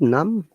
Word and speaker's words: numb: at this amazing but in number we have to pronounce b but in num we don't have to pronounce b that's why sometimes like no